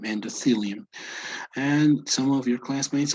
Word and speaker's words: endothelium: Okay, you know the pronunciation between a T and an H, right? It's thelium, endothelium.